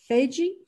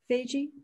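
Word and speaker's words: vygies: iceplant they call it i'm not going to pronounce this correctly they call it something like feiji feige it's spelled v-y-g-i-e-s and i think it's an africanus term so that's seeing it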